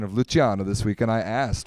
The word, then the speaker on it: Luciano: We've been having people argue about the pronunciation of Luciano this week, and I asked Luciano Vicentin. He said that technically it's Luciano in Spanish, but he prefers Luciano because it sounds cool, and I agree.